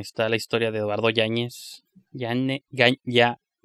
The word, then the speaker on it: Yáñez: Es que está difícil de pronunciar su apellido, yo creo por eso. O sea, digo, en Estados Unidos, porque allá la ñ no existe ni los acentos. Yep. Y la Y es se pronuncia como L, Yáñez, Yáñez.